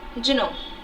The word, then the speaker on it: genome: Genome, इसको जिन भी बोला जाता है और जीनोम भी बोला जाता है. इसका प्रोनाउंसिएशन रहेगा genome.